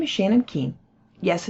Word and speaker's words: Keene: My name is Shannon Keene. Yes, it's pronounced Keene, and I'm a Senior Cloud Advocate at Microsoft.